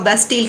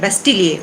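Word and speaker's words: Bastille: अब इसको आप बास्टील कह सकते हैं, बेस्टील कह सकते हैं, लेकिन अगर आप फ्रेंच इसका प्रोनाउंसिएशन पूछेंगे तो वो है बेस्टिलिए, उसको बोलते हैं बास्टिलिए।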